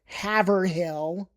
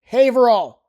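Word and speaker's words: Haverhill: Now, a common mistake might be if people say Havill. Oh, let's go to Havill. No, it's Haverall.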